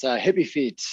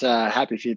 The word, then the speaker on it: Hippy Feet: It's Hippy Feet, not Happy Feet, though we do make your feet quite happy.